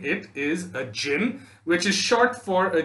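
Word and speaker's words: djinn: pronunciation of this word d j i n n is pronounced jin and not dijin okay most of you have said dijin which is wrong please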